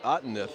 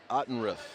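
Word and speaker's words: Ottenrieth: I heard the public address announcer pronounce it Outeneth. And it is Ottenrith. It is an R-I-E-T-H, so apologize, Ottenrith. Hannah got called for the offensive foul.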